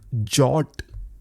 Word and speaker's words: JWT: JWT को कई लोग जॉट करके भी प्रोनाउंस करते हैं।